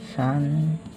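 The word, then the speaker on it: 三: Cara bacanya adalah san, yang berarti 3.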